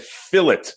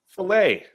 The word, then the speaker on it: fillet: So how do you pronounce it? Filet, like a sophisticated French person.